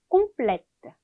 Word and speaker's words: complète: 얘를 여성형으로 만들어줄 때 발음을 해주기 위해서 자음을 하나 더 붙일 것 같은데 그렇게 하지 않고 얘는 오히려 악성을 붙여주면서 마지막에 을을 붙여주고 이렇게 해서 발음을 바꿔줘요. 읽어볼게요. complète, complète, 그렇죠?